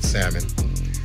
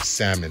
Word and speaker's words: salmon: tagon tastes good on salmon and another thing if you're calling it salmon come on man the L is silent you go to a